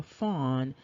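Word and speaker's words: faun: is this fawn and the fawn is f-a-u-n but phonetically it is f-o-n and so on the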